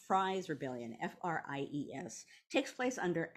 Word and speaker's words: Fries: Another one that I wanna mention, which it doesn't often get mentioned, and I believe it's pronounced Fries Rebellion, F-R-I-E-S, takes place under Adams's presidency.